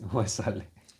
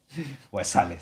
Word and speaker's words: Waisale: Waisale. Waisale, sir.